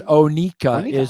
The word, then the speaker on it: Oneco: It's like Onika or Oneco. It's Onika. Onika. Is the Florida pronunciation.